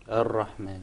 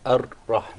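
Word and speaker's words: الرحمن: So say, Ar. Ar-Rahman. Actually, you pronounced several Ra. It wasn't just one. It should said be Ar. Ar-Rahman. Ar. Ar.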